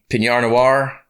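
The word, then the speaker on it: Pinot noir: it's a red wine pinar noir that's how you pronounce it i'm not a big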